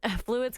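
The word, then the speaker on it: Fluide: yes and this next one i think is pronounced fluid right but it's within yeah yeah it's fluid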